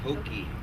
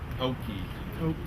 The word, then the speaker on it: Hokeah: really just a spin image they don't say Hoke they say hokei hokei thank you uh you know I'm glad you